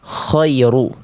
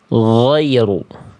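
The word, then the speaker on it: غير: Oke, maka jangan sampai kita baca ghoiy, eh maaf, khoiru, tapi kita harus baca ghoiru.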